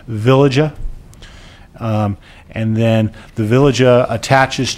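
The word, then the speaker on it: veliger: through a thing called, I believe the right pronunciation is a villagia.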